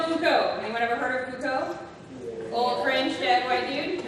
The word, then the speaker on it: Foucault: Anyone ever heard of Foucault? Old French dead white dude, right? F-O-U-C-A-U-L-T. F-O-U-C-A-U-L-T. Foucault. Yes, I know we don't pronounce many of those letters, we just skip that part.